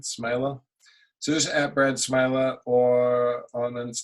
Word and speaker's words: Smeele: at Brad smiler but my last name is spelt real funky SME le likes mealy yeah Dutch pronunciation smiler Suzette bread smiler or